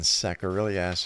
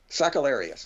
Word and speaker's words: Sakellarios: SAKELLARIOS is our special. I said your name wrong, didn't I? That's okay. All right, Saker. SAKELLARIOS.